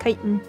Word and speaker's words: chitin: I learned the other day finally it's pronounced chitin. I'm knowledgeable now.